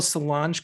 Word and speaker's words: Solange: went on a little solange kick the other day mm-hmm did i say her name right yes okay i don't want